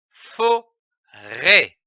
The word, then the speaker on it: forêt: Le chapeau au-dessus du E indique qu'il faut accentuer ou allonger le E. L'association de ces syllabes donne forêt, comme une forêt.